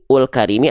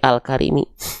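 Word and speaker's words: الكريم: Nah, kalau ini hamzah wasol, harokatnya kalau kita baca penggal begini doang, ini dibaca il-karimi, ul-karimi atau al-karimi, pasti al-karimi karena setelahnya lam.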